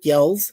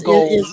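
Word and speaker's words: Goelz: But And once we those were voiced by Dave Yells. I hope I pronounced it correct. It's goals. It is Goals?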